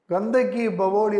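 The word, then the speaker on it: Gandhak ki Baoli: பிஏ கே கந்தக் ஈ இந்த ஈ ஈ ங்குறது ஐய வந்து நம்ம இன்னு உச்சரிக்கணும் ப்ரொனௌன்ஸ் பண்ணனும் கந்தக் ஈ பவோலி கந்தக் ஈ பவோலி கந்தகி பவோலி அப்படின்னு சொன்னா வெல் அப்படின்னு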